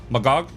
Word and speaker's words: Magach: you go why is it called a magak magak is the right from the Hebrew word um